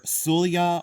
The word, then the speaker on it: Solje: Most of these are from Norway, either Solia or Solia, however you want to pronounce it, but it's spelled Solje. And I always said Solje, but it's Solia or Solia, and I don't care which it is.